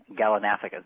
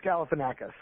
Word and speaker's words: Galifianakis: today is called is zach galinafica did i say his name right no you didn't it's galifianakis yeah okay now if